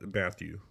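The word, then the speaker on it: Mathieu: matthau we're not actually i guess it could be pronounced matthew yeah is matthew yeah but i always want to pronounce it matt that when i look at it uh honey badger yeah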